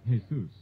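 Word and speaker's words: Jesús: I hurt my parents the Spanish pronunciation is Jesus although most Americans pronounce it as if referring to the Christian savior there's just no way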